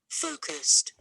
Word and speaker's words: focused: Focused. Focused. Focused. Focused. Again, we have two syllables here. It's a short adjective. And the stress is on the first syllable. So underline focused.